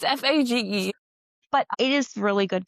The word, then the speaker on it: Fage: Phage. I just know Phage is wrong. It's Fage.